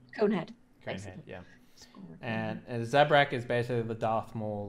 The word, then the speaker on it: Zabrak: Zabrak. Zabrak. Sorry, you're the Zabrak, yeah. And Daya is the Dear. Dia, sorry. Dia is the is the Sarian, yeah? Yeah. Mhm. Conehead. Conehead, basically. yeah. And Zabrak is basically the Darth Maul looking one, so.